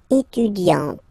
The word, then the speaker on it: étudiante: Okay, but then for the feminine form, elle est étudiante. Okay, t. Okay, you don't really insist on the E, but you insist quite much on the T.